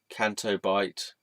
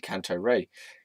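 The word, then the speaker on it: Canto Bight: So, Canto Bite. I just said it right the first time. I used to call it Canto Ray. Canto Ray, Canto Bite, Canto Blight. Oh, whatever.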